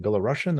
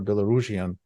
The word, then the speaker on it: Belarusian: the B the B I don't know how do you say it belarussian or Belarusian and I heard both both versions in English uh but uh the